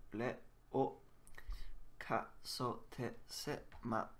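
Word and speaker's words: を: Wo is pronounced o always. This is always pronounced o, like that one.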